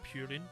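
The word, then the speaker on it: プリン: You got like Jigglypuff is is like literally means pudding or purin I think is the is the way you pronounce it in Japan.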